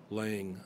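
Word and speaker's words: Laing: don't remember which but his name was laying I believe it's spelled L I a in G something like that but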